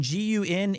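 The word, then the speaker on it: 軍: In Gun in Japan, it means like army or group. So it's pronounced Gun here.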